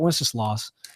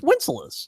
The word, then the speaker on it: Wenceslas: I think I'm pronouncing that correct. Strauss Tobacconist. Okay, and then also Wenceslas.